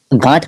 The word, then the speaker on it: गांठ: करते थे भाई भाई भाई थोड़ा सही से प्रोनाउंस किया कर गांठ का है गांठ हां वही नाड़े में